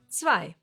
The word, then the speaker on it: zwei: It's two or more letters that always get pronounced the same way when they are together, like here, I. Zwei.